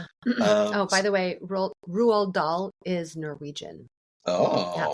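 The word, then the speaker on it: Roald: Oh, by the way, Ruald Dal is Norwegian. Oh, that's why it is pronounced Rald and not Rald.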